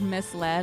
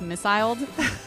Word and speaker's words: misled: me of my sister the word misled like Mi l e d finally realized the word wasn't pronounced missil cuz she was like